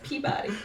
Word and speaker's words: Peabody: yes Peabody I know you look at it it looks you think it should be padodi or something but it's Peabody Pagoda pow bunny yeah